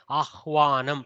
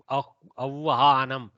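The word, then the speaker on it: आह्वानम्: Ahwanam. You cannot make it avvahanam.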